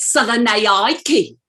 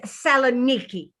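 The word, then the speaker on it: Salonika: places mine is at southern aiki you'll excuse us mrs hagerty but the correct pronunciation is selenicky i don't think and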